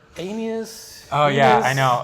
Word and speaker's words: Aeneas: So the correct pronunciation is Aeneas. Aeneas, at least I think. Am I screwing this up? I have no idea. I think it's Aeneas.